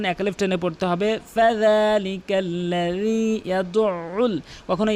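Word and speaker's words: يَدُعُّ: ফাযালিকাল্লাযী ইয়াদউল, কখনো ইয়াদুল ইয়াতীম বলবেন না, ইয়াদউল। এখানে অধিকাংশ লোক কিন্তু আইনের উচ্চারণটি বাদ দিয়ে ফেলে, কখনো আইনের উচ্চারণটি বাদ দেবেন না।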